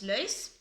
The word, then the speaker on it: laus: Loose is cognate with the word laus, pronounced nowadays lös.